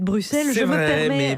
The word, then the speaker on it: Bruxelles: Vous savez, à partir du moment où tous les Français disent Bruxelles au lieu de Bruxelles, c'est je vrai, me permets...